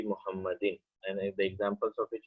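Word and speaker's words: محمد: So you notice here that a proper name such as Muhammad has three forms in Arabic. Once it's pronounced as Muhammadun. In other place it's pronounced as Muhammadan, and in other place you see Muhammadin.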